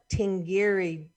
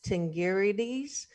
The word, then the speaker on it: Tingirides: I found her name, Amada Tingiri. I didn't say that. I didn't say it right. Tingirides, a Watts native.